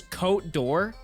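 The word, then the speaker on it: Côte d'Or: just moved to Europe pretty much pronounced as coat door that doesn't sound fancy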